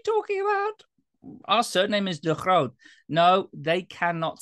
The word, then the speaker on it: De Groot: The Dutch pronunciation is De Groot, which my father, when